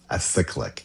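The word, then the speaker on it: acyclic: A cyclic. A I would have pronounced it acrylic as well. There's no R in there.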